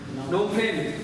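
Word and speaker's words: Phnom Penh: नोम फेन, PHNOM, PH silent रहता है।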